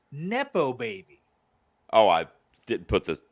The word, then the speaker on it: nepo baby: you say it okay so first of all it's derived from the word nepotism nepotism yes I know that so so you shortening the word from nepotism baby to is not nepo baby it's nepo baby oh I didn't put